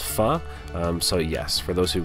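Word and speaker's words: phở: spelt p h o a lot of people pronounce it foe but it is actually pronounced pha so yes for those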